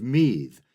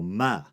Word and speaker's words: Meath: And a quick note, I've heard multiple pronunciations of that county name. I've heard Meath and also Ma. And there's also what I assume is an older Gaelic version of the name, Unvi.